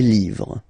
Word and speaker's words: livres: Les, and then same rule, you just write livre, and then you put s at the end, but then you don't pronounce it. Les livres, le livre, les livres.